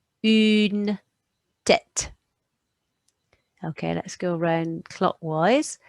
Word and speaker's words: une tête: So that's going to make that sound, and anything in grey is silent. So that one is une tête.